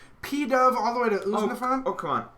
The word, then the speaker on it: Unfezant: P-Dove all the way to Uznafan. Oh come on, Unfezant is terrible. Unpheasant? Right, that's how you say it.